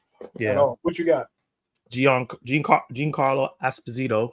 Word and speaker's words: Giancarlo Esposito: Giancarlo Esposito, because that's how you're supposed to say his name, I guess, apparently, will star as Sidewinder, the King of Serpent Society.